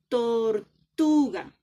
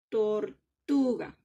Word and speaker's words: tortuga: Tortuga no tiene tilde, pero hay una sílaba que suena más duro. Pronunciemos. Tortuga. Tortuga. ¿Sí ven? En tu suena más fuerte.